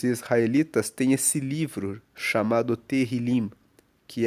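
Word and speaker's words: Tehilim: Inclusive a palavra salmos para a Bíblia hebraica, que é o texto original da Bíblia, é terrilim. Terrilim se escreve T E H I L I M.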